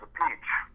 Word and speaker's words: Appice: It sounds like a piece of cake or a piece of pizza.